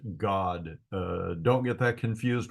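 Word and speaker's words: Gad: said a troop comes the word troop is the Hebrew word God and it would be spelled g a d but pronounced God uh don't get that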